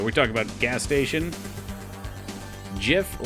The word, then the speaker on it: GIF: Jif like the peanut butter. Not GIF, huh?